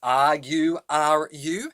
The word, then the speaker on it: Lulu: So Lulu, spelled Lulu, is pronounced it with that dialect as though it's written as R-U-R-U.